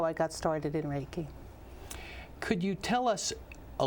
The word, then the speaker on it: Reiki: trying to accomplish well raiki is is a Japanese word with two syllables the first syllable Ray REI means Universal energy